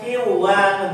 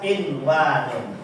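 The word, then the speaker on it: قِنْوَانٌ: Bacanya bukan qiwanun tapi tetap inwanun ya.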